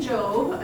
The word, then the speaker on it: Jobb: our author so dean jobe again pronounced like robe um as he has